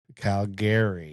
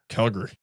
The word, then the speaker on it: Calgary: You actually pronounce it Calgary. Yeah. Not Calgary. Calgary. Calgary. Gree.